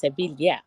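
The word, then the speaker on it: Sevilla: It's called the thrill of Seville, but it's she's saying it's Seeilia. So, the thrill of Sevilia.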